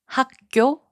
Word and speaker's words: 학교: 학교, which means school, is pronounced as 학교.